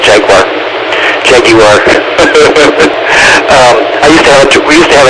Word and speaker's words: Jaguar: Jaguar. I think it's pronounced Jaguar. At least that's what they used to say on the commercials, even though we all call it Jaguar.